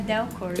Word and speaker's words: Del Corso: Seu nome é Del. É Del Corso.